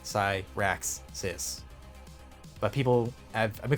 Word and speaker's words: Cyraxis: the syllables, you know, because I have like a 3-syllable name, like Cyraxis.